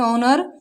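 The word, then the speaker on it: honour: जैसे एच ओ एन ओ यू आर, तो ओ से पहले क्या है? हमारी एच आई हुई है यहाँ, तो एच क्या हमारी साइलेंट है। इसे पढ़ेंगे ऑनर, एच ओ एन एस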